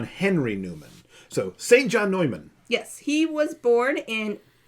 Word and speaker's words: Neumann: the germany name because i pronounced it englishy i mean it's fine to say newman we we we just think of the british one yeah it's just it's better to say neumann to avoid confusion with now saint john